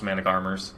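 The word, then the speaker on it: Managarmr: I know they're pronounced Manic Armors, but I call them Manic Marmars.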